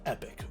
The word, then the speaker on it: Epoch: well as the jelly epic or epoch whatever you guys want to pronounce this as i'm good with either or and when you